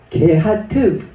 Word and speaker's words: 고핫: 둘째 고핫, 게하트 발음하죠.